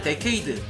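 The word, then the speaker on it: Decade: 디케이드의 영문 이름은 디케이드인데 본래 발음은 데케이드 내지는 데카이드이지만 어째서인지 디케이드라고 읽는다고 합니다. 디케이드가 사용하는 아이템에는 디케이드의 얼굴을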